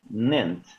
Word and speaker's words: ninth: El 5 o el quinto se escribe fifth. En el caso del 9, ¿sí? Ninth, ninth, ninth, ¿correcto?